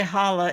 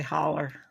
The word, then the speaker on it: holler: you say it holl you would say holla if you were educated or not in the mountains in the mountains you say holler yeah holler so up